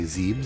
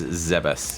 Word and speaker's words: Zebes: There are so many ways to pronounce that and I always used to just say Zebes. It is Zebus.